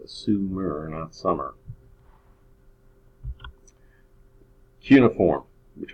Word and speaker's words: Sumer: who are from Sumer and that's how it's pronounced Sumer and on summer cuneiform which was written on